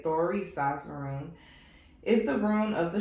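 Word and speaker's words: Thurisaz: The Thorisaz rune, that's how you say it, Thorisaz rune, is the rune of the strong one.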